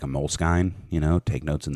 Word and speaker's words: Moleskine: can have like a Moleskine you know take notes in that bull Skies no well it's actually pronounced most kind is it yeah sorry